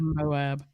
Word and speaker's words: Moab: Is it Moab? Moab, yeah. One of our listeners told us the correct pronunciation. Thank you. Moab.